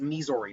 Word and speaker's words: Mizore: lot more effectively than missouri can but uh or missouri i think it's misori not me missouri not like missouri but um yeah i